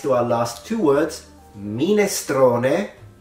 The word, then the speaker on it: minestrone: And this connects to our last two words, minestrone, not minestroni, and salame, not salami.